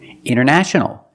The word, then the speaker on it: international: International. International or international. Example, the internet is international.